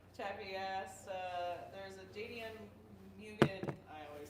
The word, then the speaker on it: Mugen: Chappie asked, there's a JDM Mugen, I always say it wrong.